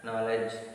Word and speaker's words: knowledge: Now see here pronunciation. Pronunciation, even though K is in front of K is what is in the sentence, but we should not pronounce this. Knit, knob, known, knee, knot, knowledge, knife, no, knuckle. These are the words. K is silent here. K is silent. K is silent letter.